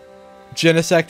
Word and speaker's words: Genesect: going with arceus genesect is pronounced with a hard g in japan fair wait is